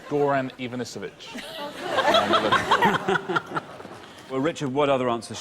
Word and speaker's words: Goran Ivanisevic: Well, let's clear up the mysterious case of Ivan Gorovich. You did get all the right syllables, just not necessarily in the right order. It's called Goran Ivanisevic.